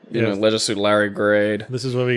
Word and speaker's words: Leisure Suit Larry: See, I persistently call it Leisure Suit Larry because I think the original American pronunciation, Leisure Suit Larry, doesn't scan as well. I prefer the shorter vowel sounds, Leisure Suit Larry. I think it scans better.